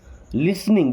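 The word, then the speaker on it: listening: You means आप लिसनिंग। देखिए यहां पे टी साइलेंट है ना?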